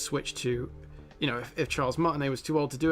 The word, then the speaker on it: Charles Martinet: Terranium says, it is a crime that Charles Martinet, how do you say that name? Charles Martinet, isn't doing the characters.